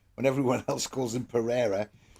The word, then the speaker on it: Pereira: I do like the way you called him Perrier when everyone else calls him Pereira. But Perrier is what the Wolves fans call him because it rhymes with derriere.